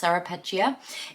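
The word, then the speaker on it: Ceropegia: quite interesting was that serapia or carapia I'm pretty sure it's pronounced carapia is actually derived from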